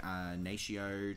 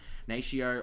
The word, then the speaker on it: Natio: It is the Natio translucent powder. I think that's how you say it. Natio or Nato. I'm pretty sure it's Natio.